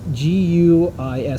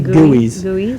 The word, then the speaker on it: GUIs: how do you pronounce g-u-i-s so usually people say gooeys yeah they usually say gooeys some people say guis yeah i don't think it matters because you don't say yui yeah i don't think